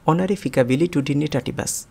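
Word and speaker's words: honorificabilitudinitatibus: এই শব্দটির উচ্চারণ হলো অনারি ফিকাবিলি টুডিনি টাটিভাস।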